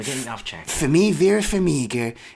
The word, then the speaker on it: Vera Farmiga: Number 2, I got Vera Farmiga.